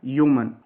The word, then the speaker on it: Yeoman: इसकी प्रोनाउंसिएशन है ह्यूमन।